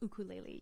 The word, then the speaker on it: ukulele: Yeah, you know, I think there are multiple ways of pronouncing it, but in Hawaii they call it ukulele.